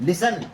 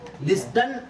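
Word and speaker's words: listen: है जी H next लिसन लिस्टन यानी कि टी साइलेंट हो गया लिसन ठीक है ये आप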